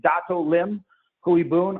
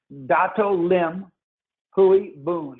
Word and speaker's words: Dato Lim Hui Boon: man named Tan Sri, or most famously as Dato Lim Hui Boon. I'll actually say how you can Google him and get the information. I'll spell it D-A, as D as in David, A,